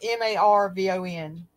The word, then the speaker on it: Marvon: Dre, D-R-E McCray, and his name is spelled M-A-R-V-O-N instead of Marvin. It's Marvon, and so the most